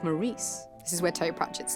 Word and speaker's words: Maurice: depends who you ask if you ask Morris he'll tell you it's Maurice unless he's in the presence of death uh who will remind him his actual name is Morris it's Maurice anxiety we